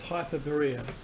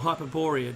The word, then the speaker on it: Hyperborea: The Thule was considered to be the capital city of Hyperborea, or Hyperborea, depending on your pronunciation, the land beyond the